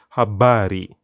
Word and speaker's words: habari: pronounce the word color rangi the word news habari very important word to pronounce there then we have some some more